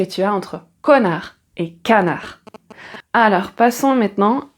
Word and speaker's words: canard: Mais attention, tu as connard et canard connard. canard.